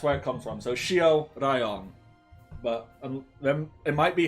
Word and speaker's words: Shiroraion: Yeah, So it's Shiroraion. live. Yeah. There we go. Shiroraion.